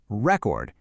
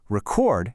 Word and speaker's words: record: When you put the stress on the first syllable, record, it's a noun, a thing. But shift that same beat to the second syllable, record, and bam, it's instantly a verb, an action.